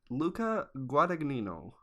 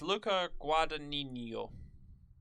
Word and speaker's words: Luca Guadagnino: me by her name luca guardaccino guadagnino luca guadagnino i think is how you pronounce it it's luca guadagnino who knows i don't know i'm not italian i have italian friends i